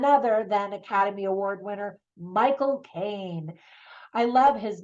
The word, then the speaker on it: Michael Caine: I love his name because if you want to say it correctly with a British accent, you basically say my, and then the word cocaine, like the drug, and you put it together really fast, Michael Caine.